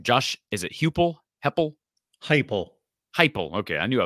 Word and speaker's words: Heupel: Heupel. Heupel. Okay, I knew I was pronouncing it wrong.